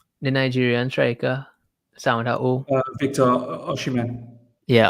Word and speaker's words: Osimhen: The Nigerian striker, Victor Osimhen. Yeah, Osimhen.